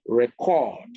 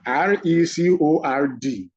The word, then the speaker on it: record: pronunciation is often just a shift in the stressed syllable from the first syllable if it is a noun to the last syllable if it is a verb. So R-E-C-O-R-D.